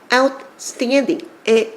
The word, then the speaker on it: outstanding: outstanding의 아 발음 여러분들 쌈 싸 먹을 때 아 했을 때 이렇게 하면 못 먹겠죠. R을 빨리하는 것처럼 여기가 많이 벌어져야 돼요.